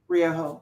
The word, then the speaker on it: Ryoho: How do you pronounce it? Ryoho.